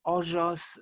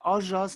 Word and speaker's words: ojos: Ojos, bellos, tú. We're pronouncing it ojos, not ojos as in modern Spanish.